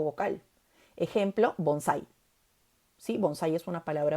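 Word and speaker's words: bonsái: Ejemplo, bonsai. ¿Sí? Bonsai es una palabra aguda. La sílaba tónica de bonsai es sai.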